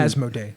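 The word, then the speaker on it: Asmodee: like there's a reason as mode a that's how you pronounce it has no - yeah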